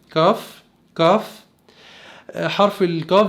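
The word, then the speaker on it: כף: كاف بتلاقي ان الصوت مفخم شوية عن اللغة العربية، مش كاف، كاف كاف.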